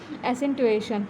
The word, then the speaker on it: accentuation: Appearance मतलब special नाम दिया गया है लोब्यूलर एसेंटुएशन। इसकी स्पेलिंग ACCENTUATION है, ठीक है, एसेंटुएशन।